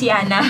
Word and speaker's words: Jana: Pero kasi, Yeah, ang it's name ko Jana. kasi, sa Europe kasi, it's pronounced as Jana.